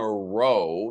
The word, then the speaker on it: row: Or in Britain, they have another expression for this and another pronunciation, row. We had a row last night. Rows is the plural. A row is an argument.